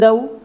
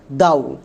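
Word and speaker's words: though: এটা আমাদের ভুল উচ্চারণ। এর উচ্চারণটা দাও না। এর উচ্চারণটা করা হয় দৌ। কেন? কারণ এখানে জি এইচ সাইলেন্ট এবং ও ইউ এর জন্য ঔকার সাউন্ড হবে। তাহলে এই ওয়ার্ডের উচ্চারণ আমরা করব দৌ। একে আমরা দাউ উচ্চারণ করবো না।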